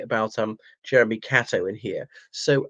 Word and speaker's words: Catto: Catto, I once mispronounced it Cato in my first soiree with him, who was a fixture at Oriel College for over 4 decades.